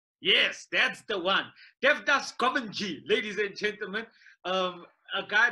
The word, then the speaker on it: Govindjee: Uncle, how do you say your surname, right? Whichever way you want to. Govindjee is the easiest. Yeah, Govindjee. That's it.